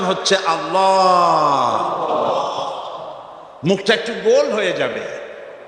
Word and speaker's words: আল্লাহ: আল্লাহ এই উচ্চারণটা আমাদের অনেকের হয় না, কেউ বলে না আল্লাহ। আল্লাহ পাকের উচ্চারণটা হচ্ছে, আল্লাহ পাকের নামের উচ্চারণ হচ্ছে আল্লাহ। মুখটা একটু গোল হয়ে যাবে, বলেন আল্লাহ আল্লাহ।